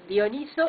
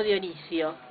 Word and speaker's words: Dioniso: V explicaste nuestro día que era dioniso y no Dionisio Eso es dioniso porque se acomoda mejor a la pronunciación griega es un nombre griego